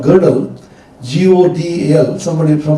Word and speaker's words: Gödel: smashed to smithereens by a young scientist called Gödel, G-O-D-E-L, some people pronounce it Gödel or Gödel, in which he said there are